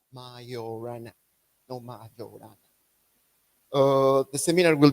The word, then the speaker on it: Majorana: And today, our speaker is Salvatore, and today he will tell us about Ettore Majorana and the real solutions of the Dirac equation.